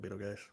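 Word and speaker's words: Betelgeuse: See atmosphere distorting the light from beetle guys.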